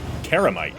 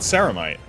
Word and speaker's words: Ceramite: Karamite, he says, not Ceramite. Interesting. Maybe that's just a Space Wolf pronunciation.